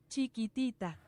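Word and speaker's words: Chiquitita: Cheeky Tittita.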